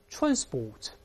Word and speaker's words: transport: 读成这样大声那边 transport 重音在前面美国用